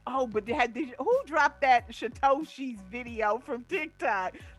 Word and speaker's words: Satoshi: It's Satoshi.